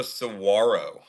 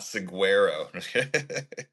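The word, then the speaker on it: saguaro: It's also Sarro, not Siguero.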